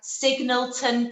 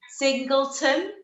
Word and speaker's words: Singleton: get your words out, Signalton Park in Swansea. So it's going to be say that again. Wait, say it one more time. Singleton. Yeah, you said it right. Yeah, you said you said Signalton.